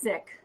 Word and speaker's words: Sikh: a Valery Kumar and she's a Sikh and she says pronounced sick which is a religion